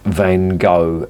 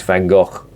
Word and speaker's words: Van Gogh: Theodore Van Gogh and if you're an American that's Van Gogh as you not pronounce it stop doing that it's wrong it's Van Gogh it's Flemish it's not American stop putting your stupid